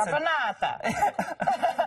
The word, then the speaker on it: Caponata: Esatto. Your pronunciation is very good. It's Caponata.